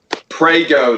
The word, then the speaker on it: Prego: Prego, though, rhymes with Fago.